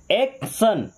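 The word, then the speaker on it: action: जब टी आई ओ एन आता है तो इसे टीओ नहीं पढ़ते। क्या पढ़ते हैं? सन। क्या पढ़ते हैं? सन। जैसे एक्शन एक्शन क्या? एक्शन।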